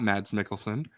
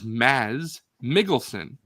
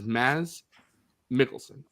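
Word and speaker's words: Mads Mikkelsen: his name is not Mads Mickelson. His name is Maz Mikkelson. D is silent and the K's are pronounced like G's. So, his name is Maz Mikkelson.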